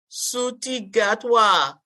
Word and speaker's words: Ncuti Gatwa: So, and I don't know how to pronounce the brother's name, Sabrina. So, come on with it. Suti Gatwa.